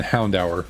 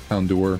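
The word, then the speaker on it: Houndoom: do dusclops and then I think that and Hound hour wasn't able to do Hound hour as well Hound door I don't know how you you're technically supposed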